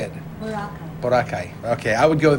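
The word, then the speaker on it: Boracay: Borakai.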